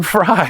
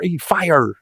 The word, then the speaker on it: Fyre: Why do you keep saying fry? I don't know. It's not even spelled like a fry. It's Fyre. Fire.